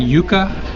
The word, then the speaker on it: yuca: what have you prepared we're making yuca which I would normally have pronounced yucca fritters yeah which is